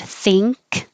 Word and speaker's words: think: got some ing words the word think you may not realize you are making an ing before the k it's thing with a k think run the vowel is